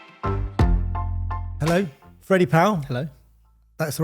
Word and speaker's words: Freddie Powell: Hello, Freddie Powell. Hello. That's the right pronunciation?